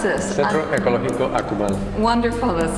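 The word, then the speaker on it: Centro Ecológico Akumal: How do I pronounce this? Centro Ecologico Akumal.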